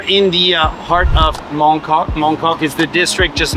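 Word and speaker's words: 旺角: our Tour on Monday um it's actually not pronounced Mok in Cantonese it's pronounced Wong this is the area where Grandmaster yman lived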